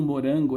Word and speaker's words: morango: Como é que eu vendo um morango na feira? Olha o morango. Ninguém diz, olha o morango, olha o morango. A sílaba tônica é o rã.